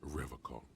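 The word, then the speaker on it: Revachol: He pronounces Revacol with a hard K, unlike other people. You said Revacol. I like to pronounce it the hard way, the old way, the Vespertine way.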